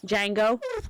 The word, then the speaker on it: Django: that's silent good movie django django and janda oh great phone one of my favorite my favorites is when he goes the d is silent you hail billy and